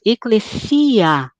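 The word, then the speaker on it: ἐκκλησία: não é uma semivogal então nós dizemos eclecia as duas vogais são pronunciadas inteiras como duas e não como uma só a tradução igreja aí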